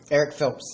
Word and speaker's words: Erich: Eric Phelps. So it's spelled ERICH.